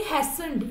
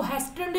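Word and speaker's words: hastened: इसमें जो टी होगा, टी साइलेंट होगा, इस वर्ड को हम बोलेंगे हैसन्ड. इसको हैस्टन्ड नहीं बोलेंगे, इसको बोलेंगे हैसन्ड.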